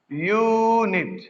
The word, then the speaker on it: unit: See here, you, though it is a vowel, but this u sound is pronouncing as unit, right?